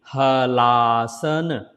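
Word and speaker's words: Halasana: Hala asana. If you put together, then la becomes la. So it will be Halaasana. Separately Halaasana.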